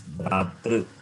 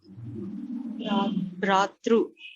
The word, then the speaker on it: भ्रातृ: When you say true, it means you are rounding your lips, it becomes Ukara. Okay. R is cerebral. Okay, it is Bhratru. भ्रातृ.